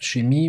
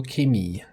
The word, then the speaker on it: Chemie: German word for chemistry, if it's pronounced chemie or chemie. It's like a hard K sound or more the CH, the soft sh.